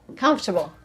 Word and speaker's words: comfortable: There's no R there. The R is after. It's pronounced comfortable. Comable. Not comfortable. Not uh but the R is after the T, not before the T. I know it's not written that way, but that's how we pronounce it.